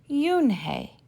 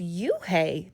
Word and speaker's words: Unhei: it's spelled u n h e i it's pronounced yoon hey oh it's you hey the boy said like you hey what about